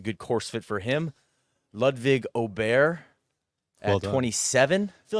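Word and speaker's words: Ludvig Åberg: Johnson Wagner kind of backed us down on the pronunciation. He's like, you guys got to commit to Ludwig Aubert.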